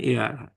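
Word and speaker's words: heir: মানে উত্তরাধিকার রেখে গেছে এটা কিন্তু হেয়ার না উচ্চারণ এয়ার এর আগে আর্টিকেল এন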